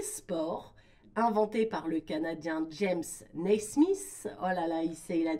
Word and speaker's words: James Naismith: Ok, moi je savais pas que tu vois, ça avait été inventé par ce James Naismith, je prononce bien?